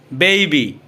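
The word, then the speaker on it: baby: এটা হবে মূলত বেইসিক বেইবি বেইবি এটাকে আমরা আগে বেবি বলতাম বেবি মূলত এটা সঠিক উচ্চারণ হবে বেইবি কিড কিড এটাকে আমরা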